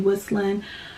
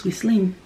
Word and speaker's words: Whisslin: It is a Haitian name. In Creole it's Whisslin. In English it's Whisslin.